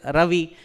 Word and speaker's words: Ravi: So I my pronunciation the way it is written as Ravi but a robi pronounced.